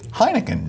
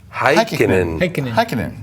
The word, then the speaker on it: Heikkinen: Heineken. No. Heikkinen.